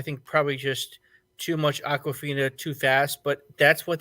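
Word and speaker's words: Awkwafina: one um you know i know i'm gonna mispronounce her name but um uh uh or um aquafina oh yeah aquafina oh it is aquafin okay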